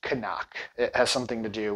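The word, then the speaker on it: CNOC: go to their website, they do say it's pronounced Canuck.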